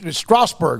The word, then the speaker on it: Strasbourg: Ish, good luck with Strasbourg, right?